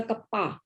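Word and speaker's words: κ: Specific conductance को लिखा जाता है के, थोड़ा सा सी के टाइप में लगाया मैंने इसको, एंड इट is pronounced as अ कप्पा, ठीक है, इसको कप्पा पढ़ोगे।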